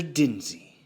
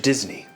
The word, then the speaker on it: Disney: you are in fact Mr Dinsey no Mr Disney if you're gonna say it say it right the laughagram studio business